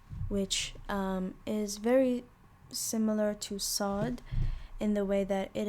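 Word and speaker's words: صاد: This one is sod. You pronounce it as saw. And like I previously explained, it's basically sa, but you have to create more space in the back of your throat, and do a similar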